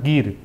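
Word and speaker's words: ger: तुम्ही चित्रात बघाल त्याला गिर असं म्हणतात स्पेलिंग जी इ आर होतं पण म्हणतात गिर आणि तो सबंध जो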